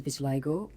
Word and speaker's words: vitiligo: So I actually pronounce it as vitiligo.